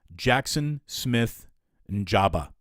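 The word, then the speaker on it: Jaxon Smith-Njigba: uh jabia and Jamba it's a tough name to pronounce um I watched a lot of Ohio State Games I should be able to nail that um Jackson Smith and Jabba that's how it's pronounced haven't even gotten into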